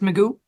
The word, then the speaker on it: Magoo: You said your last name is pronounced Magoo?